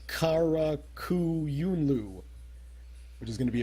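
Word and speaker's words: Qara Qoyunlu: All I'm vaguely aware of is that the Q makes a k sound in Arabic. So it's Karakuyunlu, which is going to be a big threat.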